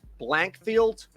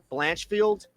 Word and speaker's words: Blanchfield: I of course I don't know how to pronounce um but it's Blankfield blanchfield okay Aaron blanchfield by decision looks like Aaron's